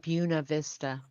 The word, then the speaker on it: Buena Vista: Valley but um yeah they call it Buna Vista so I was I've been talking with people saying yeah you know it's over there in Buena Vista and you know who